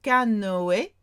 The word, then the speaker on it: canoë: Faire du canoë or faire du kayak. That umlaut on the top of the E means pronounce me.